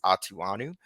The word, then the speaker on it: Atughonu: tackle my last name my last name is pronounced atuanu um and I wear